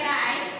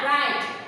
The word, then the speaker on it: write: फिर है राइट, WRITE, इसमें W जो है वो साइलेंट हो गया, जैसे मैंने आपको बताया था राइट।